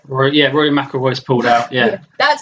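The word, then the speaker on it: Rory McIlroy: pulled out out of their competition like our Rory mckoy Rory yeah Rory maoy is pulled out yeah that's how you pronounce his name English isn't your first language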